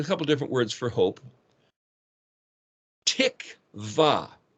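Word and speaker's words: תקוה: Tikva, tav, kuf, tik, and then the vav letter, wa, pronounced as a V in that case, and then hey is the expression.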